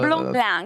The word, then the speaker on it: Blanc: Prononcé On aurait Blanc pu penser. par. Blanc.